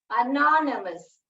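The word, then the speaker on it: anonymous: अनोनिमस एंड नॉन, नॉन, ये वाई जो है साइलेंट है, ये जो वाई जो है यहाँ साइलेंट है।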